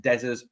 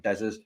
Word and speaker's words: Dessers: wide right wide left, Dessers, not Dessers. Hey, we've got one pundit on one Rangers channel, but always pronounces it Dessers. It fucking pisses me off, man. It's Dessers.